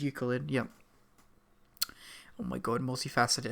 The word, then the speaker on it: Euclid: God it's a multi-faceted eucalypt oh it's Euclid sorry I I always pronounce it wrong my apologies yes it is Euclid yeah oh my God